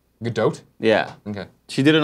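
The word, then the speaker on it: Gadot: um G gag so G do I think that's how she she pronounces GDOT GDOT yeah okay she did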